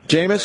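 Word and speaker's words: Jameis: vulgar how do you say his first name jamus jamus okay jamus Winston will undergo internal discipline and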